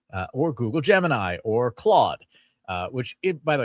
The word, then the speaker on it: Claude: uh funny enough uh folks who are native uh French speakers pronounce it totally different. They kept they call it clude and I and during the workshop I was like who? Oh Claude.